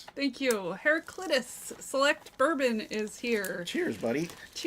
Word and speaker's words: Heraclitus: Heracletus. Thank you. Heraclitus select bourbon is here.